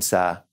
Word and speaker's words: ça: But now, C before an A in French is going to be K. So this little accent here tells us, nope, say it like a S.